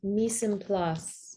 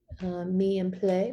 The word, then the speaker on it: mise en place: Mise en place maybe is the correct French pronunciation, but it just basically means everything has its place.